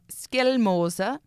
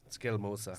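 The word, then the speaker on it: Skjelmose: brushing up, doing the tongue exercises and get the pronunciations right. Can you say that name one more time? Just Skelmoser. Skelmoser. Skelmoser.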